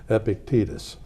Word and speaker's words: Epictetus: heard of before and the pronunciation of his name is actually Epictetus and he said what